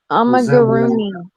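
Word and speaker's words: amigurumi: You know those, I forget the name or how to pronounce it, but those little crocheted items you can make that Amagurumi.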